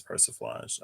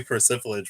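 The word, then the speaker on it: persiflage: siri pronounce p-e-r-s-i-f-l-a-g-e okay i found this on the web for pronounced perciflage perciflosh it is perciflage okay girl i don't know maybe percival edge was how i was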